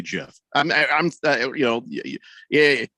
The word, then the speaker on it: GIF: with with presentation that it's pronounced jeff listen um steve uh